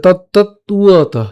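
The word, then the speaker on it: তত্ত্বতঃ: এবং এখানে যে আমাদের অন্তস্থ ব আছে, এই উচ্চারণটা কার মতো হয়? উয়োর মতো হয়, তাহলে উয়ত। তাহলে তত্ত্বত, তাহলে একসাথে উচ্চারণ করলে তত্ত্বত, অর্থাৎ একটা ত আমরা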